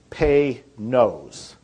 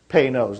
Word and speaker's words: Panoz: And it's pronounced, if you want to pronounce it right, it's Pay-Nose. Pay-Nose, like P-A-Y. And then N-O-S-E.